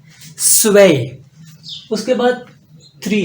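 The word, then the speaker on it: zwei: पास टू स्वय तो ये जो जड है ये बेसिकली एस की आवाज दे रहा है सीन की आवाज दे रहा है तो इसको पढ़ेंगे स्वय स्वय उसके बाद थ्री है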